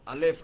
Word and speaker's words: alef: Alef. Así suena, así se debe pronunciar o por lo menos así más o menos.